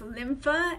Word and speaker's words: lympha: don't know about and in Latin the lymph means it's pronounced lympha and it means this